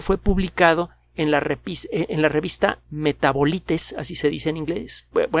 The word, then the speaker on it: Metabolites: El artículo, repito, fue publicado en la revista Metabolites, así se dice en inglés, se escribe en inglés, Metabolites, metabolitos.